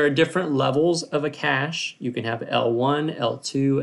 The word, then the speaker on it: cache: right and finally its cache and that's how you pronounce CA CH e cache it is a super